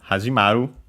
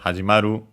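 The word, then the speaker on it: 始まる: From hajimaru, should be actually unaccented, hajimaru.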